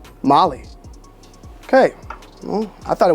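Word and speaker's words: MOLLE: I'm learning my way let's just look up the pronunciation so I don't get killed in the comment section Molly Molly that's it Molly that can't be it's not Molly bro is it Molly like the drug it is Molly okay well I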